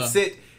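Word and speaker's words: pancit: Pan-sit is going to be the correct way to pronounce it, then.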